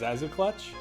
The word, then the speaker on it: Cxaxukluth: Looks like Yig, Cthulhu, Yog Sothoth, and If you're assuming those are pronounced as Z's, Zazuklutch? CXAXUKLUTH. I mean, there are plenty of words that use the X as a Z sound.